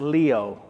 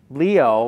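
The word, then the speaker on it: λύω: is most often used to describe forgiveness is pronounced leo leo when translated means to untie to loose to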